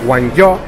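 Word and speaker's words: 广州: Se pronuncia en chino Guangzhou, Cantón para los occidentales.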